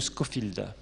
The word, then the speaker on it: Scofield: qui est une bible d'étude c'est la Bible Scofield Scofield ça s'écrit SCO et field comme un champ en